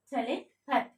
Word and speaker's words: telepathy: How to pronounce it with the help of IPA. T-a, short sound, and the stress mark over l, a, pa, a sound, short sound. This one, t-e, telepathy. Telepathy. Okay, we have to put a stress, la sound.